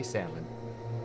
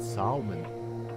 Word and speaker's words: salmon: one which is Jay Salmon um or is it salmon I don't know I don't know anybody who pronounces the L and salmon me that's why yeah it's